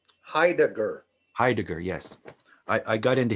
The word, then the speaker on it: Heidegger: headache how do you say that philosopher's name heidegger heidegger heidegger yes i i got into him a little